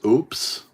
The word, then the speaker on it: OUPES: I believe it is pronounced OOPS. It is OUPES.